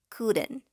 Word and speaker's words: couldn't: la forma contraída cruden para pronunciar la forma contraída ponemos una y entre la d y la n pero mucha atención la pronunciamos muy suave y la de la pronunciamos similar a una eres suave cruden la t se escucha muy suave prácticamente no se escucha cruden ya aprendimos cómo